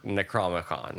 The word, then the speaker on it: Necronomicon: They don't say necro. I know it's the necro whatever part. It looks like that, but in the movie they don't pronounce it that way. It's Necronomicon. Necronomicon.